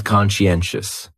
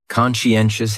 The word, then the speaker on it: conscientious: So conscientious has four syllables and the stress is on that third syllable.